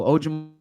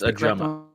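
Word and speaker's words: Ojomo: So maybe they look at Moro Ojimo there. Ojimo. What's the Ross Tucker pronunciation? I believe it's Ajama. Ajama. Who is doing all the banging? I always said Ojimo.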